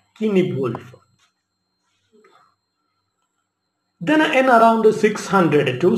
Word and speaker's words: Cynewulf: Cynewulf, you have to concentrate on the spelling, because the spelling begins with C, C-Y-N-E-W-U-L. The pronunciation is Cynewulf.